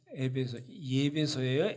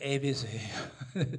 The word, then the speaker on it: 에베소: 예배소예요? 에베소예요? 저도 막 발음이 항상 틀릴 때가 있는데 에베소에 있습니다. 그럼 보십시오.